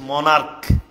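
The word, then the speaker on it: monarch: মোটামুটি এটা শেষ ভাইয়া এখানে আমি বি ই এন সি H bench লিখলাম আর এখানে আমি লিখলাম এম ও এন এ আর সি এইচ মনার্ক এবার তুমি বলো এখানে সিএইচ এর উচ্চারণ কিভাবে হয়েছে আর এখানে সিএইচ এর উচ্চারণ কিভাবে হয়েছে দেখো তো এখানে বলছে বেঞ্চ এখানে সিএচ এর উচ্চারণ কিন্তু চ এর মতই হয়েছে বেঞ্চ চ এর মত হয়েছে কিন্তু এখানে মনার্ক সিএইচ এর উচ্চারণ ক এর মত হয়েছে এখন চিকুন করে কিউট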